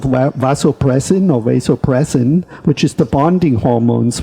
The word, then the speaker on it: vasopressin: And then there's a hormone called vasopressin, which is the bonding hormones, which has been found in certain animals that when they really... What is it? It's vasopressin is the English pronunciation, VASSOPROAS, and they injected